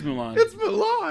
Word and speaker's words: Mulan: different ones and it mulan mulan wait yeah yeah actually it is mulan yeah do you guys